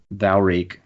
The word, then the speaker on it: Valreek: your opponent to feed you Valreek, rhymes with Meek.